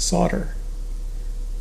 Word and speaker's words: solder: The pronunciation can be tricky because of the silent L. In American English, it is usually pronounced solder.